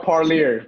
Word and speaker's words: Parlier: How do you pronounce it? It's called Parlier.